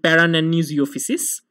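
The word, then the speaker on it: Paranannizziopsis: Lastly, there is a rare species of fungus generally found in reptiles whose name is pretty difficult, and it's pronounced as nanizophysis and parananizophysis.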